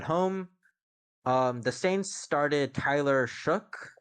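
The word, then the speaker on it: Shough: The Saints started Tyler Shook. I think that's how you pronounce his name actually, Yeah, with the K at the end.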